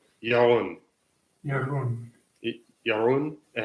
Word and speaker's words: Jeroen: And can you pronounce your name so I can practice saying it? Yes, it is Jeroen. Jeroen.